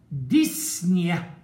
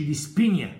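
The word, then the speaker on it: dyspnea: طب ديسنيا، وهنا البي سايلنت يا اولاد ما تنطقش، يعني ما نقولش ديسبينيا، مش عاوز العبط ده، ديسنيا كان ما فيش بي، ديس في اللغة يعني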